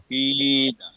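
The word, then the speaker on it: قيل: কিলা ওয়াইজা আবার পরে কিলা ওয়াইজা কিলা এই কিলা কিলা কি কফির নিচে জের আছে, তার রসিকের উচ্চারণ করেন, স্পষ্ট রসিকের উচ্চারণ করেন। কিলা কিলা কিল কিলা। Kila.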